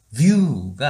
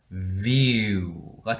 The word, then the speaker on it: view: 자, 그러면 발음 기호를 한번 볼게요. 자, V와 그쵸? 짧은 이 발음, 그 다음에 U 땡땡이가 있습니다. 얘는 view가 아닌 view가 되는 거예요. 천천히 하면 view, 욕 같지만 일단 view예요. view, nice view, view가 되는 겁니다.